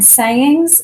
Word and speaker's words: sayings: And in sayings, the first syllable, say, is the one we accent.